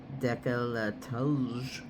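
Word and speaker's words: décolleté: Decollete also referred to as decolatto. You have to say it like that too. You know it's a French word pertaining to a woman's lower neck and chest.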